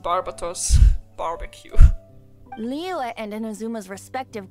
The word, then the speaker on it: Barbatos: Here I am, still thinking it's pronounced Barbatos.